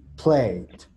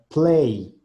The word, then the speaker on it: plate: No tiene que sonar play, no es play, es play, play, plate. Suena muy diferente play a play.